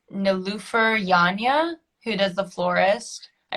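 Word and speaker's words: Nilüfer Yanya: can never i i'm not entirely sure um how to pronounce her name but it's no loofer yanya who does the florist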